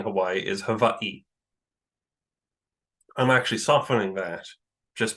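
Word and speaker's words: Hawaiʻi: Um, so I believe yes, the W is pronounced like a V, but it's so it probably is um olivalu, but you can say honu.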